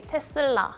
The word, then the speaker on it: Tesla: Indonesia we say Tesla in Korea we say Tesa in Switzerland we say Tesla in Spain we